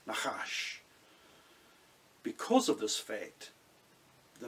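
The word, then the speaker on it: נחש: This comes from the fact that the word nakash, without vowels in its root form, when pronounced, sounds something like a hissing noise, nakash.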